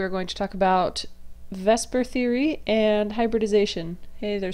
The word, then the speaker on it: VSEPR: and today we are going to talk about vasper Theory and hybridization hey there starfish um so first of all um Vesper Theory you may notice one problem which is that it's pronounced Vesper but it's v s e p but um